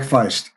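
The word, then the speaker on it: Faist: And I don't know how to pronounce Mike's last name. Is it Feist? Mike Feist.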